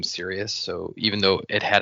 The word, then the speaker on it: Sirius: It's spelled like Sirius Black, Sirius not 3100. like Sirius. Yeah, that's another name in Harry Potter. When I first read it, I thought it was Cyrus.